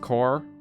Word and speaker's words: Corps: in finding work - I've always been unsure whether it's pronounced core or corpse cuz I feel like sometimes it's pronounced corpse but sometimes it's pronounced core maybe it's always core I don't actually know Curtis Curtis ability to